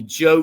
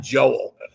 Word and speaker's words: Joel: by name but he calls me Joe not Joel But but so I